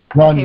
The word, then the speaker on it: Rania: I say Rania. I could be saying it wrong. Greg, how do you pronounce her name? Yeah, that's right. You're saying it right. Okay. Rania. Okay, Rania, good.